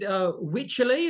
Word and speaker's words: Wycherley: Is it Wycherley? Is that the correct pronunciation? Wycherley, yeah, that's the one.